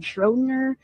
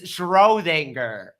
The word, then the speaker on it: Schrödinger: And Einstein criticized scientists he felt threatened by true geniuses like Erwin Schrödinger, quantum theory, Werner Heisenberg. You mean Schrödinger? They've got pretty much every name wrong, like from the start. It's Schrödinger.